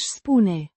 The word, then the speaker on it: spune: Aș spune. Pronounced Spune. with a soft E. at the end. The U. is pronounced as in put, Să.